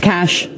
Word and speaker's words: cache: on right here cash everybody says cash a and it's cash cash I call it a weapons cache which is what we